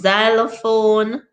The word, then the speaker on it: xylophone: Where does the Z come from? Xylophone, phone, Xerox, xenophobia. Where does that Z come from with an X?